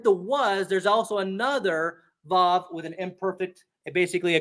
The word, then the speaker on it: vav: It's called the vav. Vav, if you want to get more pronunciation correct.